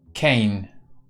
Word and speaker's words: Kane: um so I think it's pronounced rhyming with rain Kane says Marcus Stone hmm right